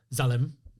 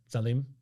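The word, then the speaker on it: Zalim: by the way, and I can tell you the pronunciation, it's Zalem. Z A L I M. Zaleim.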